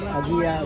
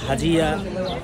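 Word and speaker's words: Hagia: আয়া Sophia but ইংরেজিতে হাগিয়া বা হাজিয়া বিভিন্নভাবে উচ্চারণ করা হয়, হাগিয়া সোফিয়াতে আমরা এখন ঢুকছি।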